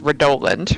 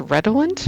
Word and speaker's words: redolent: it's clearly supposed to be pronounced redolent, right? Yeah. But apparently it's actually pronounced redolent, which I just think is ridiculous.